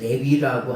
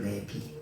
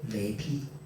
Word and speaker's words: 레위: 근데이 레위라고 하는 사람을 우리는 레위라고 발음을 하지만은 원래는 뭐냐? 레비예요. 레비. 레비.